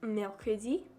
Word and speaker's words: mercredi: Wednesday is pronounced mercredi.